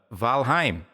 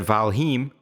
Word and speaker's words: Valheim: to lie to you I was mispronouncing that and I actually trained my buddies to mispronounce that uh by mistake every now we all call it valim which is totally wrong it's called valim right cuz it's Nordic and finish and whatnot